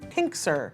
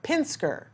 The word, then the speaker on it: Pinsker: living wish learn become pink sir I'm saying it wrong Pinsker did I get it right thank you all right